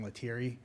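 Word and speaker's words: Letieri: Uh, my name is Latiri. Uh, do you need me to spell that?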